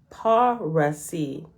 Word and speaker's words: Parsees: The same tribe in other countries was called Parsees. Parsees signify defenders of the faith, but it should be pronounced Parasi.